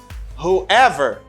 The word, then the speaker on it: whoever: wherever wherever and then you say who plus ever you say whoever because this w letter doesn't pronounce it plus ever you